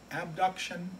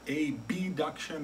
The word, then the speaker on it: abduction: and there are two terms that come up abduction and adduction they sound very similar so sometimes people will pronounce it with the letter A B duction or a deduction so what exactly does that